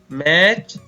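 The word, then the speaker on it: match: इसी प्रकार कुछ शब्दों में टी के तुरंत बाद सी एच हो तो टी का उच्चारण नहीं किया जाता।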